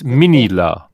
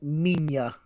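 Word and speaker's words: Minilla: The way they pronounce it's kind of more like Minya.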